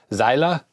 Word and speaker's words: Zeile: I know in German it doesn't really have silent letters. Like in English, the E might be dropped at the end, but I think in German you pretty much always pronounce that. So, Zeile.